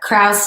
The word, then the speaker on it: Kraus: So this is my main link, but everything is under Kraus, and it's pronounced like curve, and Kraus, not like Alison Krauss, just without the S.